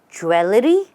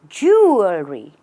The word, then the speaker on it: jewelry: say what is this do you say jewelly that's not right the right way to say is jewelry or just jewelry when you pronounce it the British way it's jewelry when you pronounce it the American way it's just jewelry choose whichever suits you